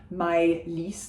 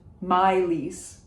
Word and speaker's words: Maylis: So we are saying the S at the end, Maylis. The first syllable is my, like my love, Maylis, de Kerangal, if you want.